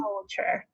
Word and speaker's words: culture: pronounce the L.